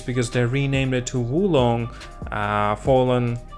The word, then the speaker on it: Wo Long: they renamed it to wulong uh fallen actually they pronounced it war warlong fallen dynasty and so there are